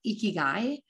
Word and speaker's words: ikigai: this that i really love and it's called ikigai i'll spell it out so if you want to google